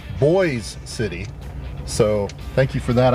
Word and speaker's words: Boise City: my subscribers Corey driver it's actually pronounced boys City so thank you for